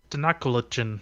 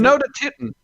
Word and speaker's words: Tenochtitlan: It's called like, Tenochtitlan.